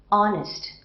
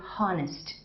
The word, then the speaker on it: honest: if it is silent like honest I don't say honnest right honor I don't